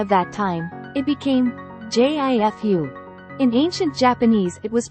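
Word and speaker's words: 十: Converting jifu to the modern kana usage, it becomes jiu. While written as jiu in kana, from the medieval period onward, when reading it aloud, it underwent a change and became pronounced as ju.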